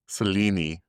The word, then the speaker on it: Selene: Have you noticed that a couple times he says Selene's name has three syllables? Selini. Okay, well that one could be it. How would you Where else would be a three syllable name? Selena. it's Selini. Kind of like that. it's Selini. Selini.